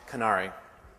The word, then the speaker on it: Conary: for packaging and we I've heard a lot of pronunciations we call it canari I want to talk